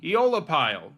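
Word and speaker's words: Aeolipile: Eola pile. And yes, that is how you pronounce it.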